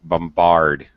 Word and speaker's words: bombard: however in this word bombard which is a verb by the way you do pronounce the second B okay bombard you bombard an area